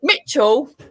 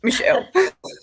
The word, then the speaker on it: Michelle: it was a good try someone pronounced my name wrong once well twice i was a vehicle mitchell or michael and i'm like no no it's michelle pretend this is a high uh an s